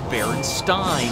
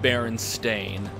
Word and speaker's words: Berenstain: continuum, and that's why you remember it as Baron Stein when it's spelled Baron Stain. But you know what? I've always pronounced it Baron Stain.